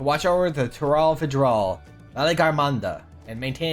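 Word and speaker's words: Valigarmanda: prison within their Temple or as I like to call him Valley Girl Amanda that's the main reason why I remember how to pronounce its name because I realized it's a lot like Valley Girl Amanda which amused me to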